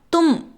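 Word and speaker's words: तुम: மே அப்படின்னா நம்ம ப்ரொனவுன்ஸ் பண்ணணும். நான் அப்படின்னா மே. நீ அப்படின்னா தும்.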